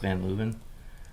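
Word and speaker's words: Van Leeuwen: you guys have them in new york it's pronounced van luven um there's there's a couple that have popped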